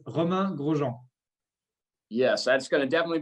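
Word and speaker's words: Romain Grosjean: So is it Romain, Roman? Is there a roll of the tongue that we can't do as Hoosiers? How should we be pronouncing your names so we do it correctly? I think that's a challenge. That's a challenge, physical in the car for me is a challenge. And for you pronouncing my name right will be your challenge. It's Roman Grosjean.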